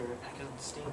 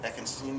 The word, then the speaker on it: Eckenstein: And Crowley often said, when he was with Oster Eckerstein, am I pronouncing that right? Oscar Eckenstein? Eckenstein, yeah.